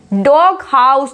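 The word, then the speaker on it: doghouse: जब compound words होते हैं तो जीएच को प्रोनाउंस कर दिया जाता है, जैसे कि big head, fog horn, डॉग हाउस।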